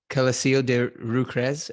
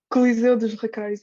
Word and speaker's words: Coliseu dos Recreios: And when you were 8, you played at Coliseo de Rucres. I can't even say it correctly. That's close enough, I guess. It's called Coliseu dos Recreios.